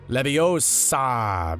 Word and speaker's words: Leviosa: You're saying it wrong. It's pronounced Leviosa, not While becoming the butt